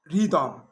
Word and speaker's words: rhythm: The H is silent. Choir, echo, echo, with G, ghost, ghost, with an R, rhythm, or rhyme.